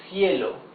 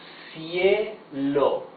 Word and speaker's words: cielo: You see, it's the soft sound. Cielo. Cielo. Cielo. This means sky. Now the hard sound, k.